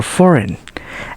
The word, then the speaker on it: foreign: we letter G now G can be silent too think about the word sign champagne design or foreign and a combination of